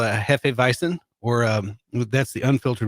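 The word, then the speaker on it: Weizen: like bison yeah except it's w and they pronounce it like a V you know like like Volkswagen like Volkswagen yeah Volkswagen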